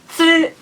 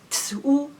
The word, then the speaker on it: つ: Many Japanese people misunderstand that cats and katsu have the same sound.